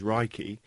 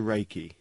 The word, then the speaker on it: Reiki: Although the proper Japanese pronunciation is Reiki, it has been westernized to Reiki.